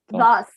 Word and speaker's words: thus: Thus. Yeah, it's Thus. kind of like with It's Oh no. the tongue in between your teeth.